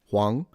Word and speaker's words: Huang: It's also the word for yellow and it's pronounced hang second tone. Huang.